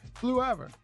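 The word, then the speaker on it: Fleurever: Florever? I don't know how you pronounce that. What is it? Florever? Fluever? Oh, okay. Fluever.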